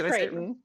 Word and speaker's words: Crichton: Is it Creighton? Crichton? It's Creighton.